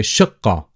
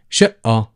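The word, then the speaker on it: شقة: Versus to the dialect pronunciation where people would say shi'a, shi'a, and the plural is shi'a, flats. So whichever pronunciation you go for is absolutely fine, and it's just one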